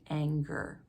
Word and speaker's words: anger: angel follows the world anger is an exception we would expect that soft G because it's followed by an e but it's a hard G anger this next word beginning